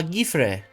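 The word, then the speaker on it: Guifré: How do you say this name? It's French. Well, it's Catalan. Guifre? That doesn't sound right. Oh, I never trust YouTube pronunciation videos. Gifre. Ah, Gifre. Okay.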